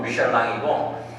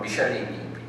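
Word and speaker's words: Michelin: 이게 프랑스 발음으로는 미셸랑이고 미국식 발음으로는 미셸린입니다.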